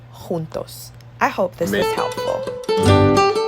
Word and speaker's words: juntos: J in Spanish is J. It's like an H sound. So we say Jamaica, jugar, justo, y juntos.